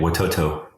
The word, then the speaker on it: Watoto: do you say it you got it right watoto okay and watoto could you could you just